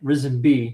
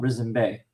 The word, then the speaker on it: Risen Bay: Because I have a couple of towns that end in B-A-Y that in this world they pronounce it B, right? Risen B, not Risen Bay.